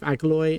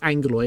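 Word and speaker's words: Aggeloi: city, an army of Agaloy and actually it's Angalo, isn't it? That's how it's pronounced for some reason, even though it's two G's.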